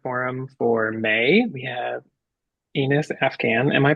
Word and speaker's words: Enis Afgan: We have Anas Afghan. Am I pronouncing your name correctly? I should have asked before. I'm sorry. Yes, Anas Afghan.